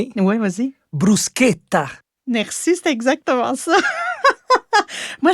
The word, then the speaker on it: bruschetta: Moi, je sais jamais si je dois dire brouchetta. Brouqueta mais c'est parce que le ch est est est prononcé comme un cas en italien fait que c'est brousqueta brousqueta exact une bonne